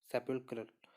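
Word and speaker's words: sepulchral: फिर है हमारा सेपुल्क्रल, ठीक है, सेपुल्क्रल, तो इसका मतलब होता है किसी टॉम से रिलेटेड, ठीक है, तो इसकी क्या प्रोनाउंसिएशन है, सेपुल्क्रल, ठीक है।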